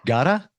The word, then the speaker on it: Ghada: Is it Ghada? It is the American way, but it's fine.